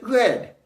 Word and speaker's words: read: Well, if the context of the sentence is in the past, we would pronounce it red just like the color.